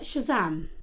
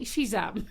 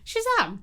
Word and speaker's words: Shazam: you yeah sorry although my husband says I say shizam sham Shazam wow rhymes with Edam mhm you know when